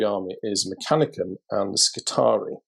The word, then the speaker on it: Skitarii: So the next idea for the mystery army is Mechanicum and the Skitarii. Notice the pronunciation of Skitarii, not Skitarii.